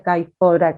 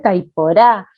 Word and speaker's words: caiporá: chicos me dicen que no se dice caipora, que se dice caiporá, que yo lo pronuncio mal, y entonces entran en